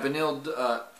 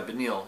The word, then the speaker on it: Beneil: Yeah, Benil. Yeah, Benil.